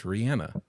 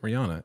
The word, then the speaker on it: Rihanna: on the Ellen show and she said it's Rihanna and everyone else pronounces it Rihanna and they're wrong so Rhiannon is the Fleetwood